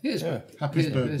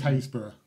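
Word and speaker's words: Happisburgh: Happisburg, which is Haysborough. It's Haysborough.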